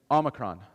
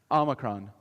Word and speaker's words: Omicron: I can also correct people's pronunciations of the different COVID variants. So, repeat after me. Omicron. Omicron.